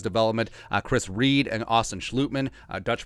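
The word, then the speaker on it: Schlottmann: Chris Reed and Austin Schlutman, Dutch pronunciation, the 2 veteran backups.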